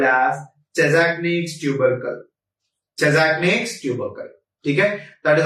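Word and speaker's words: Chassaignac: a tubercle called as chesnic tubercle chesnic tubercle that is also spelled some anesthetic spell it as or some anesthetics pronounce it as shazni Tule anywhere any Vis guys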